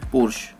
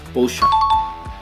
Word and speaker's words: Porsche: Many people pronounce it Porsche, which is likely to be incorrect. The correct way to pronounce is Porsche.